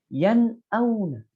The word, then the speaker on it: yan'auna: Jadi tidak boleh ditahan, tidak boleh seperti ini. Yan auna. Yan auna itu tidak boleh, harus langsung. yan'auna.